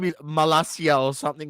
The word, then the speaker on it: Malacia: is his name is malacia or something like that but Dom is uh it's spelled like malakia uh it's not there's no K there but it's close enough all right so all